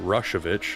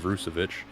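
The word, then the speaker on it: Rušović: Anton fans out there we have been pronouncing his name wrong it is uh rushovich instead of rusovich uh oh so rushit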